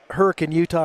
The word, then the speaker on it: Hurricane: You talk about Hurricane Utah or Hurricane Utah. You could tell people aren't from here if they say hurricane because that's exactly how it's spelled.